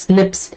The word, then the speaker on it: SNPs: difference that is snps single nucleotide polymorphism pronounced as Snips or occurs in humans